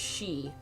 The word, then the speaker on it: Xie: too okay so z-i-e is pronounced she so kind of like banshee gee oh you are